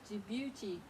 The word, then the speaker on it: Djibouti: Okay, D is for Djibouti.